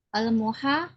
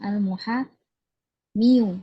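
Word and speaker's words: المحامي: Al-muhami dhammah dhahira atau dhammah muqaddarah? Karena dia isim manqus. Dia isim manqus ya. Berarti bacanya gimana? Al-muhami. Al-muhami. Ya, al-muhami gitu ya. Bukan al-muhamiyu ya, susah. Al-muhamiyu susah.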